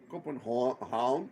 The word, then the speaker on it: Copenhagen: Copenhagen. Yeah. Oh, that's. Havn means support, and Copen means buying. So trading port. So Copenhagen means the trading port.